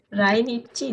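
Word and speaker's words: 来日: Ini apa bacanya? Rai? Apa Rai? Rai apa nih? Rainichi desu ne.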